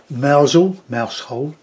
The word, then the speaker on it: Mousehole: Lovely, lovely, and some more representational stuff by Maggie O'Brien in Mousehole it's called, pronounced.